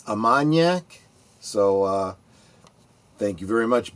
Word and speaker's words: Armagnac: And Big Al, behind the scenes, was helping me out with my French pronunciation. It's Armagnac, so thank you very much, Big Al.